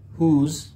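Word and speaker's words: whose: বাট এখানে যে তিনটা WS ওয়ার্ড আছে, for instance হু, হুজ, হোম, এখানে W সাইলেন্ট থাকবে। যেমন এটা হবে হু, এখানে W সাইলেন্ট, জাস্ট HO, হু। এখানেও W সাইলেন্ট, হুজ, হুজ, এটা উচ্চারণ হবে হুজ।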